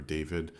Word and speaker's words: David: I'm not sure if we should say David or David. I keep saying David because his name is Polish, so I want to say a Polish pronunciation.